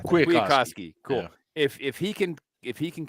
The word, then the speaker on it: Kwiatkowski: Yeah, Kwiatkowski. Kwiatkowski, cool.